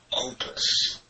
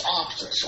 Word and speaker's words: Optus: Opus. Or Optus. Oh, it's Optus. Okay. I pronounced it right.